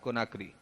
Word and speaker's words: Conakry: तो गिनी की कैपिटल है कोनार्की, CONAKRY, कोनाक्री। Second Burkina Faso, इसकी कैपिटल की स्पेलिंग और प्रोनाउंसिएशन बहुत गजब का है, ठीक है।